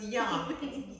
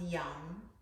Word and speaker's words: Yam: that's because you're hungry so it's young y y-a-m but it's pronounced young you ready do you